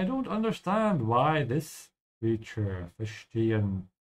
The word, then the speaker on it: verstehen: I don't understand why this creature, verstehen. Again here with the S before a T, pronounce it like sh, yeah, fish. So keep your mouth closed.